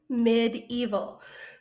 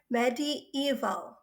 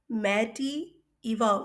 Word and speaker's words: medieval: okay medieval asia the word is it's not medieval it's actually two words put together medi is like old english for middle eval e-v-a-l is time medi-evol it's not medieval medi evolve we say things right in here just like